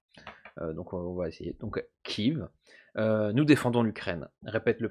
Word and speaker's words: Kiev: parce que Kiev, avec un E, c'est la prononciation russe, et du coup, il y en a plein qui trouvent ça de mauvais goût de garder cette appellation-là, et de le faire à l'ukrainienne, finalement.